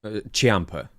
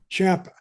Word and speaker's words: Ciampa: Ciampa. Tommaso Ciampa. Ciampa. It looks like it's spelled C-I-A-M, I think. I Start of it. Yeah. But it's got an H sound there, like Ciampa.